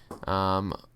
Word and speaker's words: Fanhua: Fanhua, that's how you pronounce it. Don't you dare tell me it's not.